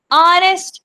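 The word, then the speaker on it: honest: एन ऑनेस्ट मैन। H silent है। ओ से start हो रहा है।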